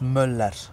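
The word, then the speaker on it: Müller: think okay this is my favorite player all time Andreas Muller yeah close Andreas M M M because we don't uh speak the r at the end you know M and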